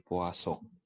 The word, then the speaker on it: Poisson: akan lanjut ke distribusi puaso gitu ya akan lanjut ke distribusi tulisannya gini ya E Poison Tapi bacanya ituasong karena ini orangnya dari Perancis ya kita bahasribusiong nah distribusiong